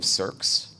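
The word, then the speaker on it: SearX: maintain so I stood up a copy of cerss uh it's by esimu it's spelled s e a RX it's an open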